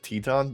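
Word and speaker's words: Titán: Yes, Titan. I want to say Titan. I think. I know they Excalibur pronounces it Teton, but that doesn't sound right to me.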